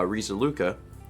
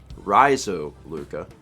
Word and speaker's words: Risaluka: Fun fact about my username, you guys are the first people to pronounce my username the way it was intended. Uh Risaluka. But most pronounce it Rizoluka.